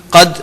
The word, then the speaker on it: قد: قد میں پچھلی مرتبہ بتا چکا ہوں، قاف کو انڈر لائن یہاں بھی کر لیں اگر ابھی بھی تلفظ میں کوئی گڑبڑ ہے.